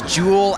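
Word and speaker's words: Joule: name her name is jewel Adam's jewel spelled like the unit of energy so jou le and she's a colonist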